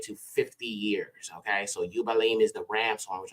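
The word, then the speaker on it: יובלים: the apocryphal books now jubilees is actually would be pronounced yalim yalim which means Rams horns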